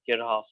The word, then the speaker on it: Kirchhoff: And some people pronounce it Kirchhoff. I think I looked at the official pronunciation. I think the word is, I believe it's German. So I think they pronounce it Kirchhoff.